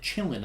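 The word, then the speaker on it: Qilin: q-i-l-i-n yeah oh anyways they pronounce it chilling in the movie yeah that's strange not really a noise that q makes but it isn't like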